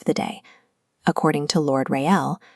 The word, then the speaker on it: Raël: According to Lord Raël, pronounced Ray and El, the celebration of the day itself is not forbidden.